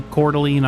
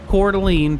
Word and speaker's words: Coeur d'Alene: guess Adam Doll is from the Idaho region, specifically Coeur d'Alene, Idaho.